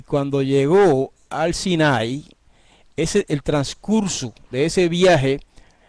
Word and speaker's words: Sinai: La mayoría de la gente dice Sinaí, pero en realidad lo correcto en el hebreo en cuanto a la pronunciación de esa palabra es Sinai. Se acentúa en la A y no en la I.